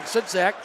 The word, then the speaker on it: Sudzak: Sudzak, I've been saying his name wrong. Sudzak is what the address announcer announced it.